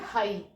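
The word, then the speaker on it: high: okay अब for example यहां पर वर्ड है हाई हाई में ये वाल है उसके के बाद ये क्या आ रहा है जी एच तो ये जी एच साइलेंट है यहां पर नेक्स्ट वर्ड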